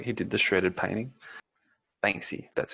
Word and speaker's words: Banksy: he does like he did the shredded painting Banksy that's how you pronounce it yeah I mean he's just some